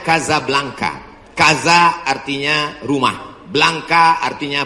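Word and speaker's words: Casablanca: nama negaranya Maroko ibukotanya tulisannya Caca blancha cara bacanya Kadzab langka Kaza artinya rumah Blanca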